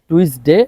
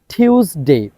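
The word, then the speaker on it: Tuesday: খেয়াল করতে হবে মানডে মানডে টিউসডে আমরা বলতাম টুইসডে এতদিন এখন আমাদেরকে এটা বলতে হবে টিউসডে টিউসডে টিউসডে তারপর আমরা এতদিন যেটাকে বলতাম ওই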